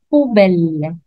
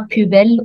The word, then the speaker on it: poubelle: On remarque ici qu'il y a un U, mais je le prononce OU. Si vous avez vu la vidéo de la lettre O, on a expliqué que O plus U égale OU. Donc ici, je le prononce poubelle, non pas pubelle ou poubelle.